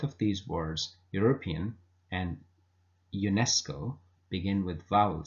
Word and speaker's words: UNESCO: honest but there are some words which begin with a vowel letter but they pronounced as um consonants so they would take an article a with them for example a European car a UNESCO official now the word European